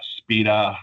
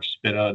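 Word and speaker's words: SBITDA: Um the subscription liability um other also known as uh speeda or spitta depending on on who might be pronouncing it.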